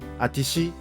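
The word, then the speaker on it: あたし: 私はでもね、まだそう。ちょっと、どうかな、私の声大丈夫 Atashi is mostly used by women and sounds more cheerful, active, or even strong-willed sometimes. It's more informal. Aqua-san is famous for a unique pronunciation, atishi instead.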